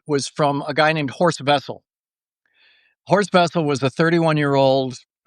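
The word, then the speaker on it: Horst Wessel: But horse vessel was uh it's spelled with a W, but the Germans pronounce it with like a V.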